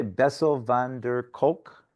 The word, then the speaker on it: Bessel van der Kolk: And so that is a quote from, I think, how do you say, Bessel van der Kolk, Michael? Yep. Yeah. Yep, that's correct.